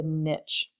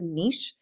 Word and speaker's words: niche: This is different than the niche. Now, some people will pronounce this word niche, and some people will pronounce it niche.